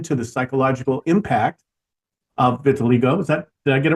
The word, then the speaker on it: vitiligo: His mission is to bring attention to the psychological impact of vitiligo. Did I get it right? Pronounce it right? Vitiligo.